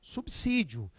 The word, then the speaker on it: subsídio: determinadas palavras né então devemos falar subsídio devemos falar inexorável e